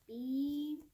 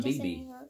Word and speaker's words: Beebe: Don Bieber. Justin Bieber. Let me see. Don Beebe. Oh, that's good. You did good pronouncing that.